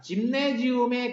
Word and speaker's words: Gymnasium: 이제 독일어로는 김나지움이라고 독일어로 있어요. 라틴어에서는 그대로 나온 거기 때문에 철자는 똑같고 발음만 달라.